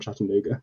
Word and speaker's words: Chattanooga: Same story, bit more compact, and sort of centered around Chattanooga, which is in there. Maybe not pronouncing that right, but you're perfect.